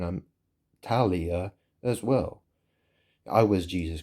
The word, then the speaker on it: Tahliah: So, so the thing is is that you know obviously there's this musician called Fk A Twigs and her name is Talia. That's spelled T A H L I A H.